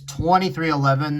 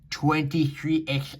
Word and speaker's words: 23XI: It's 2311, not 23XI. I fucking hate people that say it like that.